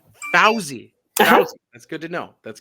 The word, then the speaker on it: Fawzy: and we'll move on from there so it's pronounced fawzi i know it's spelled fozzy but that was